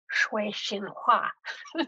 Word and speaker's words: Sui Sin Far: has, Sui Sin Far, which I'm not pronouncing in any correct way in terms of the Cantonese, but that is sort of how she's referred to. I think someone in China said to me, okay, if you really want to pronounce this correctly for your Chinese audience, it's Shui Xin Hua.